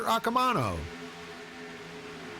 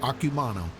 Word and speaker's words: Akumano: oh we're very good uh william barbara gelada now in 10 right behind uh peter akamano akumano yup i remember asking last week how you pronounce that and he said akumano so very good elliot